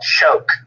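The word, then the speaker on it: Choq: just recently tried is called uh it's called choke so it's spelled c h o q and um go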